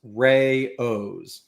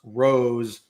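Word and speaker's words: Rao's: The pasta, according to AI, the pasta sauce brand AOS is pronounced Ray O's. Oh, is not pronounced Rose or Rouse.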